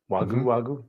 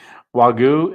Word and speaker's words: Wagyu: And just blessed me with 2 ribeyes, 1 pound of regular hamburger, 1 pound of um, Wagyu hamburger, Wagyu, I said it right, Wagyu, and a dozen of eggs, brown eggs from his chickens.